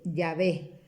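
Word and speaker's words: Yahveh: nombre propio, su nombre directo, es el de Yahvé, ¿no? Ven que se escribe Y-A-H-V-E-H, Yahvé, pero que es el nombre propio del Dios de Israel.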